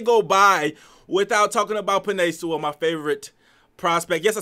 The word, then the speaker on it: Penei Sewell: let the day go by without talking about pine soul my favorite prospect yes i said his name